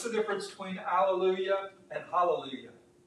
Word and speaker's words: hallelujah: So it should actually be hallelujah. You get that breath sound, ha.